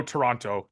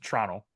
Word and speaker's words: Toronto: Brad, we don't pronounce the second T, by the way. So no Toronto, just Toronto.